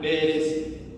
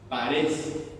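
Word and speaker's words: Peres: I, Parsin es un participio que aparece del verbo, que aparece más adelante en el versículo 28, que se pronuncia Pérez o Parez. Así es la pronunciación.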